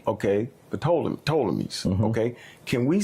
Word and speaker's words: Ptolemies: Usually people say Ptolemies. The Ptolemies. They don't usually pronounce the P. Okay, the Ptolemies.